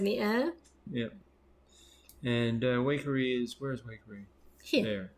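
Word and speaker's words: Waikerie: discussion last night and it's definitely pronounced wakery oh yes one of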